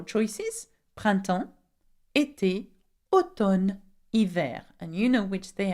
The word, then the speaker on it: hiver: And the last season is winter, we say hiver. Can you say that? Hiver. Now remember, do not pronounce the H in hiver, okay? We pronounce the I. And the winter would be l'hiver.